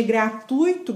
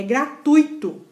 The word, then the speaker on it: gratuito: Isso aqui, esse hiato que eles fizeram com o I do gratuito não existe. Não se pronuncia gratuito, gratuito ou gratuita. É gratuito.